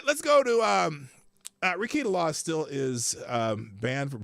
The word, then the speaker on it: Rekieta: I keep saying Rakita. It's Rakita. I'm saying it wrong.